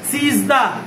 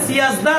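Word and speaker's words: سیزده: এরপরে সিজদা, এটা সিয়াজদা না, সবাই একবার ফার্সি বলার সময় ভুল বলে সিয়াজদা বলে, কারণ হয়তো উচ্চারণ পড়ে ছিল তো, যার যেভাবে খুশি সেভাবে পড়তো এটাকে। সিয়াজদা না, এটা কি? সিজদা, সিজদা থেকে সিজদাহুম, ঠিক আছে।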